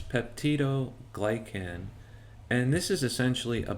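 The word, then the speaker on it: peptidoglycan: and this is comprised of Pepto glycan um that's spelled p e p TI d o g l y CN so it's pepti glycan and this is essentially a biopolymer that contains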